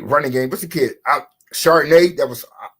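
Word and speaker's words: Charbonnet: Chardonnay. I was like, oh shit, that's how you pronounce his name?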